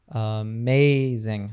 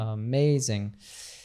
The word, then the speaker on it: amazing: one so for example the word amazing you have two a's there but they have different sounds right like the first one's a schw sound uh amazing the second one is a long a sound amazing and if you were